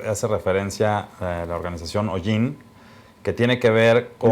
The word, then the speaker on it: Ollin: Hoy tenemos una información, Tulio, que hace referencia a la organización OIN, que tiene que ver con... OIN creo que se pronuncia. OIN, sí, tienes razón.